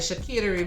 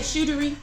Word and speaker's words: charcuterie: Yeah, I was gonna say she had the charcuterie board in this one, but that was when